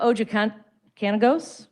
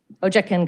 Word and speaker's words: Ojakangas: NOVA OJOKAN KANAGOS? NO, I butchered that. Ojakangas? Yes.